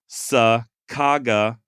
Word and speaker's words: Sacagawea: On May 20th, 1805, Lewis wrote, SAH space CAGAH space WE space AH. Okay? Sacagawea.